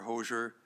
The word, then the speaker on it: Hoger: and Roger I'm sorry hoger hoger I'm not sure the pronunciation it's just like Roger but with an H Roger hoger as well I'll just note